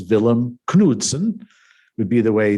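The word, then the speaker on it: Vilhelm: now as a as a Dane um of course his name he would be known as as villum kudon would be the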